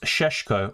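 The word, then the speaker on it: Šeško: Um, Cesco is pronounced Seshko.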